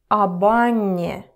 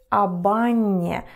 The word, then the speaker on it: об Анне: Again, об Анне. Джек думает об Анне. It's very important when it comes to pronunciation. So repeat after me. Об Анне. Джек думает об Анне. So it's like one word.